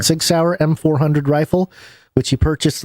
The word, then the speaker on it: Sig Sauer: don't know how to say this, Basil, the Sig Sauer? Yeah, Sig Sauer. Sig Sauer M400 rifle, which he purchased legally in March.